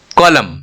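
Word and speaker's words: column: हम नहीं बोलते हैं कॉलम एम और एन दोनों कंसोनेंट है यहां पे एन साइलेंट हो गया साइकोलॉजी पी साइलेंट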